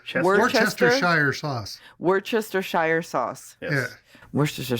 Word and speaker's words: Worcestershire: remember as a bartender you know how to say there were sisters yeah more Chester sauce we're Chester yeah that's how you're supposed to take these really